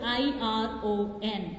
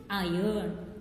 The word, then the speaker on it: iron: See the words I-R-O-N. Here R is there but it is not pronounced. So how we should pronounce is iron. It's not pronounced as iron.